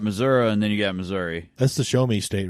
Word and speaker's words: Missouri: the same state you're in no I'm in Missouri I was like so you're talking about the